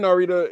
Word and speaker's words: Narita: was very inspired here his name is Ren Nita bro stop saying that it's pronounced Nita and that's how uh